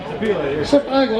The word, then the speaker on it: Sapele: Just finished this year, constructed from, Robert, how do you pronounce this first one? Sapele? Sapele.